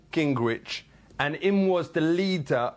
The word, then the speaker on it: Gingrich: Gingrich. Gingrich.